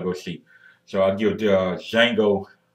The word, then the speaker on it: Django: And remember, the D is silent, so not D Django, it's Django.